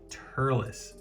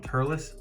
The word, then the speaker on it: Turles: want to point out is his name is Turles now I had this conversation with my wife um because I was like was I mispronouncing his name all these years because I was always calling him turless no I wasn't wrong I just don't understand